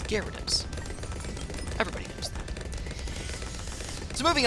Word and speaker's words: Gyarados: Dude, the Y is silent. Gyarados.